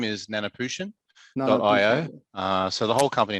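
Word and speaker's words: Nanoputian.io: you please tell me what is the correct pronunciation for your company name oh yes so our our formal name is nanaputian dot io uh so the whole company name includes the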